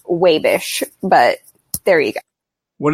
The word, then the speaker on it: Wabash: living in Indiana also it is not actually Wabash if you're from Wabash it's pronounced wave ish but there we go